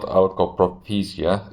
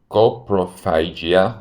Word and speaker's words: coprophagia: thing that came and it's not alcoprophysia it's coprophagia which is eating the